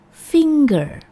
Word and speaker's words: finger: Cara pengucapan yang benar adalah finger dengan penekanan pada suku kata pertama, finger, atau bisa juga finger, finger or finger.